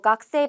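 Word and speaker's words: 学生: 일본어로 크세이라고 써 있는데요 각세 발음 어떻게 하냐면 각세 아고 합니다 각세 아고 해서이 쿠 발음은 약간 받침 럼 되고 세이라고 써 있는 건 장음으로 발음을 할 거예요 그래서 학생은 각세 아고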